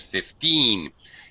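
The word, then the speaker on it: fifteen: numbers there teen numbers um 50 all right 5050 you first syllable stress 15 you need to over over stress a little bit so that you your listener can differentiate between you know 15 and 5 don't be afraid to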